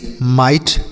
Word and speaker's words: might: उसके बाद क्या है, MIGHT माइट, इसे माइट पढ़ा जाएगा। तो अगर आई के साथ GH लिखा रहता है तो इस आई का उच्चारण आई होता है।